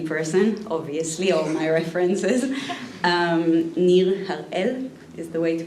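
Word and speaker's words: Nir Eyal: Nir Harel is the way to pronounce it.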